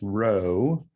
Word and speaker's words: rho: that's the greek r unfortunately it looks like a p but it's pronounced rho if rho is zero